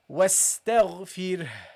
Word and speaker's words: واستغفر: So make sure that you pronounce it correctly. You say واستغفر واستغفر. Okay? That's how you pronounce it.